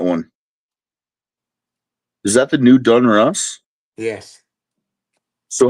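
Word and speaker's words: Donruss: Is that the new Dun Russ? Yes. So, how do you say it? Do you say Dun Russ or Dun Ross? Don Russ. Don Russ.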